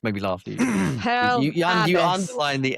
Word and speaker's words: Pearl Abyss: Um their stock uh dropped 30% on Pearl Abyss. How do How do you pronounce How do you pronounce It's the the emphasis on the A.